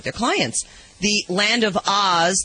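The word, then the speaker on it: Ahs: The Land of Oz, that is spelled A-H-S, as in, oh, what a cute baby, now has its own pet limo complete with curtains so no one can see who's really inside.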